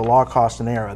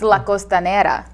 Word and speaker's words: La Costanera: went for example to lock host era that's not coming up next it's La costanera there you go he's